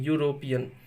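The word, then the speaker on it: European: ठीक है, यू भी वॉवेल है, यहाँ कुछ साइलेंट नहीं है, लेकिन यूरोपियन य से पढ़ते हैं, यूरोपियन।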